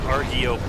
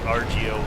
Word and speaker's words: Argiope: It's Argiope, not Argiope.